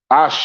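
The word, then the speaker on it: Àṣẹ: Ashe in the Yoruba is how you would pronounce this.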